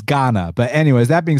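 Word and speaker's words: Gane: i think it's cyril ghana i think it's pronounced ghana i used to say ghane and then i'd say gone and then i heard john anik saying ghana so i'm a roll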